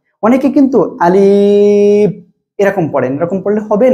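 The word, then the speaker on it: ألف: কি অক্ষর শিখবো দেখেন, এখানে আমি দেখাচ্ছি এটা কি অক্ষর, এটা হলো আলিফ। কি অক্ষর? আলিফ, আলিফ, ঠিক আছে? এভাবে উচ্চারণ করতে হবে।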